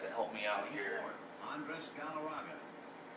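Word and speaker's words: Andrés: Andres Galarraga. Andres, that's how you pronounce his name.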